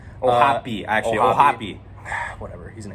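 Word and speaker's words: O'Hoppe: Ohopi, actually.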